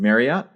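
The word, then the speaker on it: Mariotte: I don't know how to pronounce the last name. Marriott. We'll go with Marriott.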